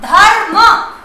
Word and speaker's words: धर्म: जैसे आपने ये धर्म या कर्म, तब आप क्या करते हैं, वर्ण के ऊपर लगाएंगे, लेकिन उसका उच्चारण उस वर्ण से पहले कर देते हैं।